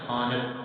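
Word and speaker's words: خواند: खानत, खानत, खानत। वाव silent होता है इसका। खानत, खानत होता है पढ़े, और इसका खानदगी, खानदगी हासिल मस्तर है।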